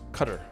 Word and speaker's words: Qatar: Qatar, I think it's actually pronounced cutter, right?